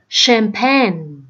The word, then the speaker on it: champagne: Câu số 2, chữ CH này mình đọc là champagne.